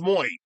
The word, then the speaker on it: Muay: But, her name is pronounced Muay in both versions. You know, Muay as in Muay Thai, spelled the exact same way, as in M-U-A-Y.